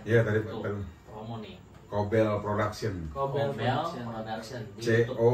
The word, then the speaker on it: Cobel: Cobel Production. Cobel Production. Production. Di YouTube. COBEL. Tuh, Cobel. Cobel Production. Cobel Production ya teman-teman. Bacanya sih Cobel Production.